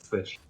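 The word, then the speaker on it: ghoti: You pronounce it fish. G-H-O-T-I? You pronounce it fish.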